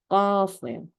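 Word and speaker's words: قاف: 잘못 발음하면 그냥 우리는 키읔으로 발음하거든요. 하지만 키읔이 아니고 거프예요. 거프. 네, 쌍키읔과 비슷하지만 목 안에서 나는 소리.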